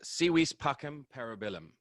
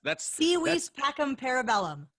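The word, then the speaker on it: Si vis pacem para bellum: It's Si vis pacem parabellum. That's Si vis pacem parabellum.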